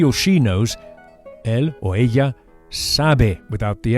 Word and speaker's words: ella: And the way to say she is ella. Ella. The Spanish double L is pronounced very similarly to an English Y with just a hint of J.